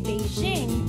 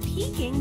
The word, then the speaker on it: Beijing: beijing next that's because when some people tried to say beijing they pronounced it peeking by mistake all right we are